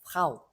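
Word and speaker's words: Frau: 그래서 프라우 거의 F하고 R가 잘 안 들릴 정도로 프라우 모음이 더 크게 들릴 정도로 이렇게 발음하시면 정확한 발음입니다.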